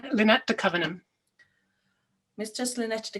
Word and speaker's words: Leonet: Yeah, I'm gonna let you pronounce that name yourself because I pronounce it Leonet, but I'm not sure if that is correct. No, that's just fine. Leonet de Covenham.